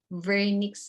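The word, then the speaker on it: Wernicke: For comprehension, it's called the vernix area, Brodmann area 22. Okay, so this is named after a German neurologist. So you have to pronounce W as letter V.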